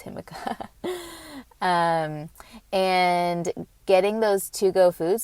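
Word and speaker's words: jicama: peas, even radish, like himika. I was about to call it Jimica. Spelled like Jimica, but it's himika.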